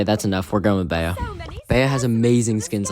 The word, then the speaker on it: Bea: French and Spanish his name is often said Bea okay that's enough we're going with Bea Bea has amazing skins like either Nico style